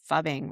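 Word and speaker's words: phubbing: I might say it wrong. I would say it as fubbing, right? Yeah, Okay. fubbing.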